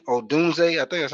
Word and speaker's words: Odunze: Odunze. I think that's how you pronounce his name.